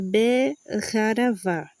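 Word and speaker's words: בחרבה: Então, Asher, Beharavá, tá? A pronúncia é Beharavá, ok?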